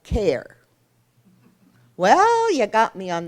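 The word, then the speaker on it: KEHR: you're going to see This Acronym k e h r and I've been told that sounds like care well you got me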